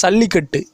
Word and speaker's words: சல்லிக்கட்டு: இந்த ஜல்லிக்கட்டு என்பதை வடமொழி ஜா என்று உச்சரிக்காமல் சா என்று உச்சரிக்க வேண்டும், சல்லிக்கட்டு.